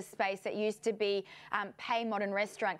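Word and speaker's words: Pei Modern: that used to be Pay Modern Restaurant. Correct me if I'm wrong in terms of that pronunciation there. No, Pay Modern is right, Leanne, and in fact,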